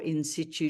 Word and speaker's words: in situ: pronounced inite you or in sit you depending on where in the world you are it is not invasive